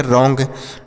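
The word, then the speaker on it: wrong: ओ एन जी अलोंग डब्लू आर ओ एन जी तो W silent है आर से पढ़ेंगे र ओ एन जी को ंग तो यह हो गया रॉन्ग डब्लू आर ओ एनज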